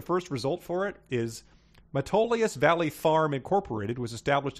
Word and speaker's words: Metolius: People, nothing's really based there, but a lot of businesses just, are established there for the tax breaks that Metolius Valley gives you.